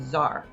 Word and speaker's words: tsar: latin word caesar and that t-s-a-r is pronounced with a z zar ivan iii and the